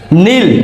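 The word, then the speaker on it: kneel: এন G knitting means বোনা যেমন কাপড় বোনা নীল কে এন ডাবল ই এল নীল নীল মিনস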